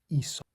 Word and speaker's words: Aesop: It's pronounced Aesop.